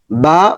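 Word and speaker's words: باء: তাহলে এই হরফটার নাম হচ্ছে বা। বা এর মাখারাজ হচ্ছে ঠোঁটের ভেতরের অংশ যুক্ত করে।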